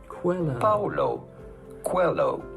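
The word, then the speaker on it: Paulo Coelho: how to pronounce that how do you go about pronouncing his name Paulo Quello Paolo cuello pretty straightforward once you know Paulo hello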